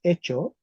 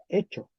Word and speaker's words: hecho: otro caso interesante verdad escribimos hecho y se pronuncia hecho se pronuncia hecho atención en español las palabras que escribimos con h es porque en latín tenían una F Okay entonces típicamente las